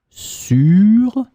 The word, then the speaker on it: sûre: You just add E in the end, but you pronounce it exactly the same way. Sûr, sûr.